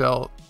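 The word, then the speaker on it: お: Which remember, this one's a little confusing, because in Romaji, it's typed out as the letter I. But it's pronounced like the letter E.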